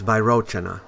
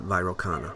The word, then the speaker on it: Vairocana: Yes, it's Vairochana, not Vairocana. I pronounced it wrong on site.